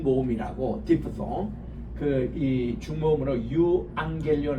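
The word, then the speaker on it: εὐαγγέλιον: 디프 th 그이 죽음으로 유앙겔리온 할 때게 감마가 감마를 치면은요 앞에가 앙이란 발음이 나와요 유앙겔리온 또합시다 유앙겔리온 유앙겔리온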